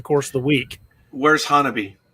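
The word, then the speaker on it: Honobia: against the wachitas it's it's spelled h-o-n-o-b-i-a it looks like henobia but the our oklahoma pronunciations like miami being what they are they pronounce it hanabi did you give me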